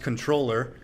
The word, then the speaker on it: comptroller: So comptroller, what I've learned is, one, it's actually pronounced controller.